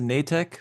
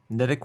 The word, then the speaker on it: Netek: It's pronounced a nicek, but uh Netic works because a lot of people say Netc.